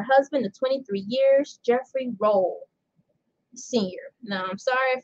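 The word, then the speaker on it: Rolle: of 23 years jeffrey roll senior now i'm sorry if i said it's last name wrong it's pronounced well it's spelled r o l l e like row row jelly roll so yeah yeah jelly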